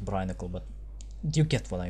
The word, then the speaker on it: brinicle: Hope you turn into a fucking brinesicle. Well, actually, it's pronounced brinicle, but you get what I mean.